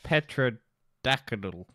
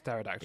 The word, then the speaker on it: pterodactyl: a pterodactyl pterodactyl yeah or Petra decadel no it's pterodactyl if I would be